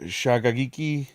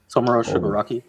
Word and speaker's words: Tomura Shigaraki: We got Tamura Shagagiki. Jesus. Shigaraki. Shagaraki. Shigaraki. Tomura Shigaraki. The next Saki one's pronounced Velociraptor.